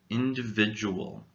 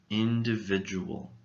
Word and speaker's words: individual: looking at the word individual individual how many syllables do you think this word has surprisingly this little word has five syllables notice the fourth syllable is not pronounced do it is pronounced jew now where do you